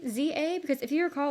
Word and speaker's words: Z-A: Z-A, Legends Z2A, Legends ZA. Like, no one knew how to say this name. And I think we as a community have eventually agreed to call it like ZA.